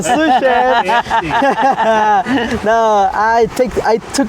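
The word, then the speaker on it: sous-chef: Um s chef. Not s chef. I wish I was a sushef.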